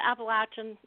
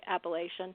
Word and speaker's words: Appalachian: The Appalachian is how you say it here. Though I'm not from here, so I still say Appalachian.